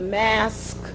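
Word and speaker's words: masque: a type of drama called the mask drama that's spelled m-a-s-q-u-e and this particular drama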